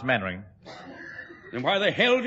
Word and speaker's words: Mainwaring: You must be Mainwaring. Oh, how do you do, Colonel? Actually, it's pronounced Mannering.